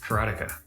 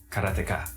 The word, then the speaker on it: Karateka: A lot of people say Karateka or Karateka. In Japanese, there's no stress on any syllable, so it would be Karateka, something like that. I called it Karateka, but I've since found